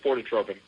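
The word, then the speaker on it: Fortetropin: Yes, you're saying it right, phototropin.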